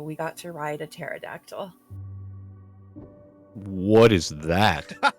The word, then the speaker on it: pterodactyl: was it a pterodactyl pterodactyl the p is silent we're still working on